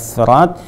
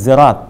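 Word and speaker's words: صراط: ada dua riwayat, ada bisa pakai sin, ada bisa pakai sad, ada juga yang bahkan pakai zai kan, ihdinas sirat, ihdinas sirat, ihdinas zirat kan.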